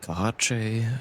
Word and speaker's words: Kaahche: You can also call me Kahache, or some people call me as well, which is easier for most people to pronounce.